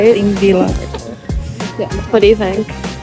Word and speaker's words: Þingvellir: Christian, how do you say the name of this of this thing? Sing villa? Thing billy or something like that, right? Thing villa.